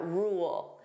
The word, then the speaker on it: rule: So, first let's take a look at rule. Notice here there are two sounds. We have r. So that dark l rule. Rule. So if I pronounce this fully, you hear those two sounds.